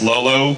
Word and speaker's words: l0: just to be clear it's pronounced loo but it's actually l0 l0 cuz it's really difficult